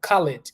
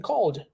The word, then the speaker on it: called: have sometimes uh i' I've had students pronouncing this words like this word like call callid callid callid call it right Ed so you do want to have a better pronunciation by saying called I called you I